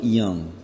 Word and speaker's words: Jung: the name of Carl Jung. Even though it's a J, it's pronounced Young.